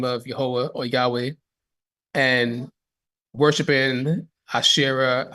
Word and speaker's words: Yahweh: um again as we pronounce his name as yahwah and many people pronounce his name as Yahweh and in order for us to do it